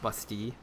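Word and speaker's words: Bastille: on to the lost busty. Uh, busty being a French word. And being that I am French, well, that's how it is pronounced.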